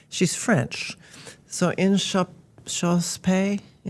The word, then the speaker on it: Inchauspé: Her name is Jessie, and I don't know if I can pronounce her last name. She's French. So Inchauspé, how would you say it? Inchauspé.